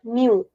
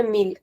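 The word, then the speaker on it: mil: So in Brazilian Portuguese where we do not pronounce the L at the end, we'll say new. And in European, we'll say meal.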